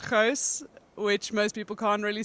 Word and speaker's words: Gouws: Hobbs joined by Bryant field hockey freshman Gauss now that is not the correct pronunciation of your name but I am have